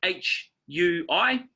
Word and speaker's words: hui: want to talk about today is Hui Hui is spelled h UI Hui and it's pronounced Hui is in who